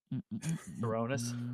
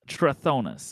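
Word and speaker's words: Trithonus: your name again friend my name despite its previous Butchery of its pronunciation happens to be ponus I think it was y uh tronus my name is tronus I can spell it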